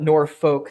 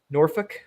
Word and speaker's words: Norfolk: So it's not Norfolk. That's too pronunciated. So it's like Norfolk.